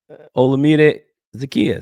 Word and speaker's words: Olamide Zaccheaus: Olamide Zaccheaus.